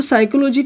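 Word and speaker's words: psychology: है जिसमें मतलब वर्ड जो है ना वो साइलेंट है जिस जो अपना मतलब मीनिंग नहीं दे रहा है देखो सामने मेरे देखो साइकोलॉजी को मैंने लिखा क्या लिखा है साइकोलॉजी है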